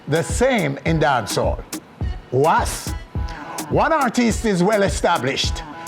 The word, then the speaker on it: Wahs: Two artists with the same sounding names, that those spelled differently as in W-A-S-P and W-A-H-S, in dancehall is pronounced the same, Was.